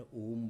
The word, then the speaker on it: ओम: ओम ऐसे। ओ को करीब 10 से 15 सेकंड और मैं को पांच से सात सेकंड में ऐसे यह सही प्रोनाउंसिएशन है।